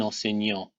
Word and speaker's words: enseignant: Autre difficulté, dans le mot écrit, on a aussi une lettre muette qui est aussi un T à la fin.